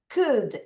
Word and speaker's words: could: could could 소리 안 나요.